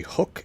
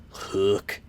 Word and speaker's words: Huuk: examining the B3 archery hook and hook mini it's spelled huu k so I think it's meant to be pronounced with some sort of twang like hook I'm from Pennsylvania and